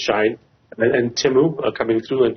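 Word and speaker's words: Shein: They're talking about, the entering of, we had a discussion actually just a few hours ago, was it Shine or Shine? I think it's pronounced Shine.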